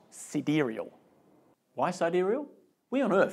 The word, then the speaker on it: Sidereal: are what we're about and even how to pronounce it sidereal trading you